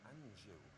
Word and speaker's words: Anjou: Margaret, it sounds like Margaret Anjou. Anjou.